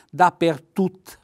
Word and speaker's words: dappertutto: messa assieme dappertutto quindi unire e mettere L'accento sul sulla u la accento tonico dappertutto poi qui vedete il